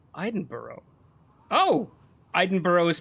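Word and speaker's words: Edinburgh: give you a tip eidenberg is pronounced Iden Boro oh ideno is pronounced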